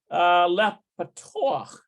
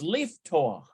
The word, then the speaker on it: לפתוח: Oh, it's leaftoch. לפתוח. Leaftoch, to open. Note that even though the additional vowel is marked patach under the last letter, its pronunciation precedes that letter.